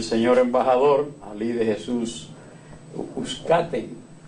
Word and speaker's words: Uzcátegui: embajador Ali de Jesús Uzcategui, Uzcategui, sí, porque el nombre es como el apellido, sí. Entonces lo he oído diferentes pronunciaciones, pero es una palabra grave, Uzcategui.